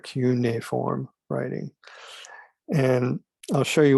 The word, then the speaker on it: cuneiform: uh sumerian uniform writing that's how you pronounce that not cuneiform but q na form writing and i'll show